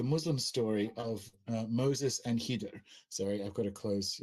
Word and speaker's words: Khidr: The Islamic story of Moses and Khidr, and that's spelled like Kadir, and I'm going to try and say Khidr because that's closer.